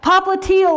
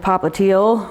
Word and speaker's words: popliteal: telling you is that calcaneal rhymes with heel and it's your heel which rhymes with popliteal which is the back